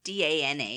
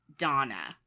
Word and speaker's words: Dana: Not really, but to us, D-A-N-A is Dana, right? Yeah. Dominic was pronouncing it Donna.